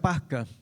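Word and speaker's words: πάσχα: Se dice que en el griego se pronuncia pasca y traducido al español significa paso o salto.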